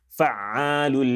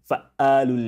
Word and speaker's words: فَعَّالٌ: فَوْقَكُمْ سَبْعًا شِدَادًا فَوْقَكُمْ فَوْقَكُمْ سَبْعًا شِدَادًا فَعَّالٌ لِمَا يُرِيدَ فَعَّالٌ لِمَا يُرِيدَ فَعَّالٌ لِمَا يُرِيدَ Do not allow yourself, your child, your student, your friend, your loved one to say fa'alu lima yurid, fa'alu lima yurid.